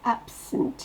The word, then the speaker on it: absent: Dans absent, c'est ab qui explose. Le sunt, on l'entend quasiment pas. Le E ne se prononce pas, ça fait sunt.